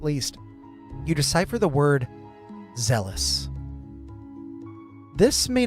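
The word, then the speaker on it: Zheles: It is pronounced zealous, but it is Z-H-E-L-E-S.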